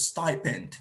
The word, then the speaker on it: stipend: have everyone pay attention s to me p n d is correctly pronounced as stipend sty the letter i that is pronounced as i stipend stipend now bonafide